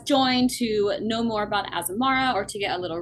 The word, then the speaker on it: Azamara: azamar Azamara azamar how do you say it Azamara Azamara okay asamara cruises um so excited to